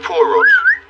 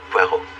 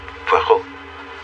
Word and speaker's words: Poirot: Poirot. No. Poirot. It is pronounced Poirot.